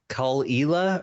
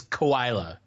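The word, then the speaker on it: Caol Ila: Cull-Ela, or however you say that. I think it's 12. Yes, that's delicious. I think it's Koila.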